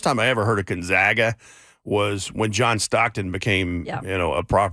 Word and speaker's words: Gonzaga: I ever heard of Gonzaga was when John Stockton became you know a property in the in the NBA I was like where's Gonzaga people never pronounce it right you know right Gonzaga Gonzaga it's like known zags